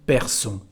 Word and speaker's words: perçons: As you can see again here, because there is a O, we need the cédille to keep the pronunciation nous perçons.